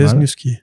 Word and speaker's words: Lesniewski: Lesniewski, d'ailleurs, je prononce vraiment mal. Lesniewski. Ouais, Lesniewski. Comme qui casse.